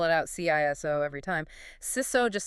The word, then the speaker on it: CISO: Throughout this conversation, we're going to be pronouncing CISO as SISO, rhymes with his so. We're not going to spell it out CISO every time. SISO just sounds more like